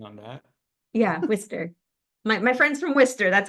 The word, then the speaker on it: Worcester: Nice pronunciation on that. Yeah, Worcester.